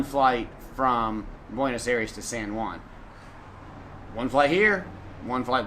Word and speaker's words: San Juan: Make sure that you pronounce it right, because if you say San Juan, they will not know where you are.